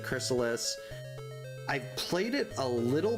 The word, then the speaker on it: Crystalis: I've never played, well, I've played Crystalis, I think is how you pronounce it, Chrysalis.